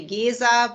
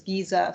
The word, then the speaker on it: Gesa: It's in German it would be Gesa, but when we talk English, it's Gesa, so no problem here.